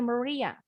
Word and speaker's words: Maria: Maria, kalau bahasa Inggrisnya pengucapannya Maria.